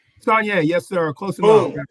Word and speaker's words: Saulnier: Saulnier, yes, sir.